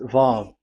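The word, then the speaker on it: וָו: Vav. So it's V as in Vogue. So it's really V. How to read Vogue? So the word, the shape Vav is really pronounced V, like Vogue.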